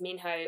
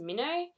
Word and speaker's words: Minho: and I just realized too that I am pronouncing his name as Minho when in the movie it is pronounced Mino or mini I can't even remember it because